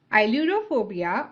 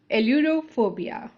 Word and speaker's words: Ailurophobia: Okay, this is pronounced in two ways, Ailurophobia or Aerophobia.